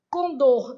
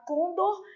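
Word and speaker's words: condor: obrigatório assim caráter they com dor não tem a gente que tem mania de falar qundo mas a palavra é oxítona então o certo é pronunciar com dor não tem a senha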